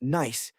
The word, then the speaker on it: gneiss: These rocks, primarily granite and a fascinating stone called gneiss, pronounced nice, tell a story of immense pressure and heat.